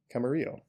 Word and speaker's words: Camarillo: but we are in i don't know yeah camarillo or camarillo lived in the la area for so long and i think i've just been straight up mispronouncing it according to wikipedia this is pronounced camarillo so um oops but this exit over here